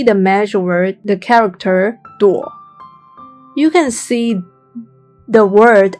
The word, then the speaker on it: 朵: clouds and mushrooms, and its pronunciation remains the same, 朵.